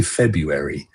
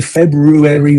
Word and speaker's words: February: I'm talking about Is it Do you say Do you pronounce this first R or do you just say February? I never know when to say February or February. We say February.